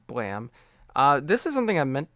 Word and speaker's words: BLAME!: So, Blam by Tsutomu Nihei, uh, or Blame, as I thought it was called, but it's actually pronounced Blam.